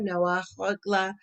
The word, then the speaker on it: Noa: and tierza and um noah here of course being the feminine form it's spelled differently it's not like noah as in noah as noah's ark it's no uh pronounced and spelled differently as a female name all right so we